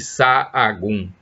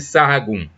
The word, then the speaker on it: Sahagún: Eu acho que a pronúncia é essa. Ele era espanhol. Então, é S-A-H-A-G-U-N, o sobrenome. São João de Sahagún, ou Sahagún.